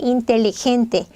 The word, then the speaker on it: inteligente: 스페인어는 inteligente. 자, 얘는 리을 발음이 나요. 텔리 이렇게.